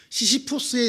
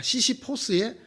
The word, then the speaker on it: 시시포스: 시시푸스의 신화라는 게 있죠. 옛날에는 이게 시시푸스의 신화라 그랬는데 이제 자꾸 발음이 미국식으로 되다가 보니까 시시포스의 신화라 이렇게 말하는데, 이 신화의 주인공인 시시푸스가 죽음의 신을 속이죠.